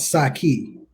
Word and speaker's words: Saki: Saki, just like the Chinese drink.